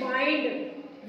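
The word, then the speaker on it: wind: और इसी को अगर इसको विंड की जगह हम इसको प्रोनाउंस करें वाइंड वाइंड up your work अपना जो काम है वो समेट लो वाइंड अप योर वर्क ठीक है एक हो गया विंड एक हो गया वाइंड दोनों में में ही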